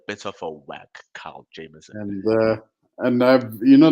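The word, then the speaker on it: Jamieson: Jameson and is it jamson or Jameson it's Jameson that's how you say Jamon that's how you say it that's how you say the whiskey but how do we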